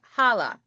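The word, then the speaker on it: challah: Mama Debbie says that the chala bread is actually pronounced hala.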